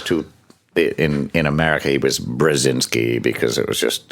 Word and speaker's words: Brzezinski: By the way, Good to see even you have problems pronouncing the name. Brzezinski. Yeah. Well, there's two. In America, he was Brzezinski because it was just it's complicated.